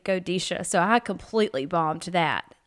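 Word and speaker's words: Godetia: used to say it g-o-d-e-t-i-a and it's actually godisha so I completely bombed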